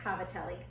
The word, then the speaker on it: cavatelli: as cavatelli but my grandmother is known for mispronouncing things so I'm gonna go ahead and say cavatelli that's what it said when I looked about so cavatelli are pop stuff from it from southern Italy